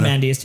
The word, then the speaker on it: Ozymandias: Ozymandias.